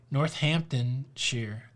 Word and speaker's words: Northamptonshire: you say it north do not say shire i see that northamptonshire is it northamptonshire i